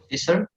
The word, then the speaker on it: scissor: There is silent C. Silent C, for Yes. example. For example, like in words, scissor. We do not say the C.